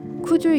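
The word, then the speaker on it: くじゅう: 정상 봉우리를 칭할 땐 오렐구 살주를 써서 구주라 하고 쿠주 연산을 뜻할 땐 9구의 무거울 줌을 쓴다 한다. 일본어로는 둘 다 쿠주라 하여 발음이 같으나 한국식으로 읽을 땐 이 둘의 발음이 달라 그런 혼선이 생겼나 보다.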